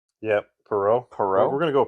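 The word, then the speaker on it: Perreault: Perau.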